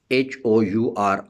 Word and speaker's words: hour: So if for example I say R, H-O-U-R, ah, or hour, here H is silent.